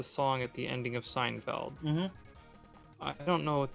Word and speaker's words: Seinfeld: If you you know Steinfeld, I'm pronouncing it wrong, but you know what I'm talking about, right? I actually am not Seinfeld. sure. Seinfeld?